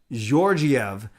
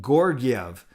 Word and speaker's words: Georgiev: I looked it up as soft G's, Georgiev. But I know John Shorthouse was saying Gorgiev, hard G's. Hard G, soft G.